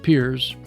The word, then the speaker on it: Pears: Piers Mill, spelled Pears, pronounced Piers, was constructed in 1857-58 and is listed on the National Register of Historic Places.